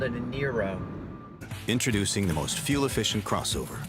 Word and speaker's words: Niro: the panelists corrected me and said actually it's pronounced nairo okay I got to tell you I don't